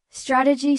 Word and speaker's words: strategy: Strategy stresses the beginning while strategic stresses the middle.